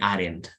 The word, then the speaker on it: hadn't: sick if I hadn't in this case you pronounce the h why do you pronounce